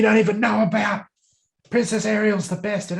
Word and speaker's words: Ariel: Princess Ariel's the best, and it's pronounced Ariel.